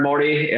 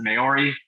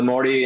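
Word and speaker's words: Māori: Morty um population um it's tough to pronounce the word Morty um pronounce it differently a lot of times when I came over here I would pronounce it mayori that is clearly wrong um but um um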